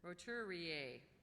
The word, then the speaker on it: roturier: Okay, the next word is roturier. A rich person not of noble birth, a nouveau rich. Roturier. Any alternate pronunciations?